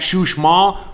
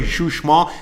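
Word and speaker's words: Uxmal: and a half to the east we got shush mall is like an hour to the south you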